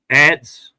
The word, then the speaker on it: adze: How was it pronounced? Adze.